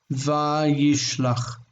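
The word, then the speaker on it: וַיִּשְׁלַח: This needs to be patach. Vayishlach. Not vayishlach, but vayishlach.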